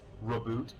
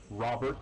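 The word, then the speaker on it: Roboute: So, there are people who will pronounce this as like Reboot Guilliman, Reboot Guilliman. Robert Guilliman, Okay. Robo Girly Man.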